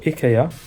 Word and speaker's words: IKEA: a long day at Ikea or Ika as it's called in Japanese it's one of those